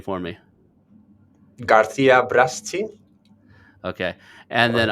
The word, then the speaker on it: Garcia Braschi: Garcia Braschi. Okay, and then Right. I'm gonna spell it for everybody.